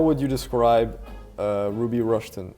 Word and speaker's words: Ruby Rushton: For people who don't listen to jazz much, how would you describe Ruby Rushton? Is that how you pronounce it, first of all? That's right, yeah, Ruby Rushton.